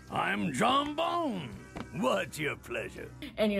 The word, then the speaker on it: Jean Bon: named Jean Bon and he'd say it like my name is John Bon I'm John bone what's your pleasure and